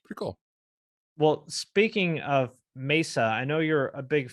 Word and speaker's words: Mesa: So I I'm offended when I hear people say Mesa. I'm offended. that's not how it's said. There aren't two S's. It's Mesa.